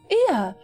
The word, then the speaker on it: Ea: When the vibration of vocal folds was still required to convey our thoughts and intentions, Ea I believe, was the pronunciation used when referring to our people.